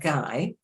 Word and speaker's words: Guy: Personally, and in Jolly, we say the U is a silent letter and the S is a silent letter. In fact, the U is put there in Guy because they don't want the Y to influence the G and change it to J.